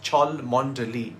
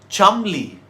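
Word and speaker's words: Cholmondeley: If you think that the name of this place in northwest England is pronounced Chalmonde, you're completely wrong. It's pronounced Chalmonde.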